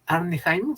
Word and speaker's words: Arnheim: de un autor que se apellida andy hayman se escribe arnheim y también de tony